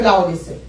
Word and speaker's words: Laodicea: Among all the 7 churches, the Church of Laodicea was, how do you say it?